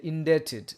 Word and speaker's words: indebted: look at this here indebted here b is silent indebted indebted to somebody for something